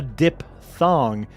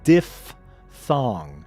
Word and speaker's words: diphthong: And it's not a diphthong. It's diphthong. It's amazing. What a word. The Stargate. Okay, this might be That I've never heard. What? The pronunciation like you've just done. diphthong Yeah.